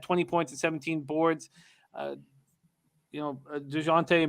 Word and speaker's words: DeJounte: DeJounte Murray, and I'm pronouncing it right for you, Jose, and for you, Wham. I don't like pronouncing the J.